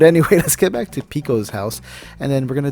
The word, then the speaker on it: Pekoe: details and tidbits about pico and every time i say her name it's just like one of those valley girls trying to say like pico de gallo so it's like pico i mentioned that she's